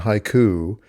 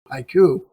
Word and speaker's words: HYCU: but the truth is the pronunciation haiku is an unintended benefit of the acronym. Hybrid cloud uptime. That's where the name really comes from, HYCU, haiku.